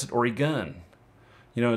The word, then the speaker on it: Oregon: because of how I pronounce it everybody else pronounces it origon or or you know or you know and we pronounce it orig gun you know it's like Orie gun you know and so um you know we